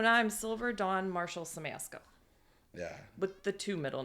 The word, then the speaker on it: Siemasko: Samasco. Just like it's spelled.